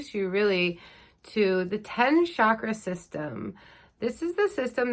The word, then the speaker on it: chakra: Joe Dispenza calls them energy centers instead of chakras. The correct pronunciation is chakra.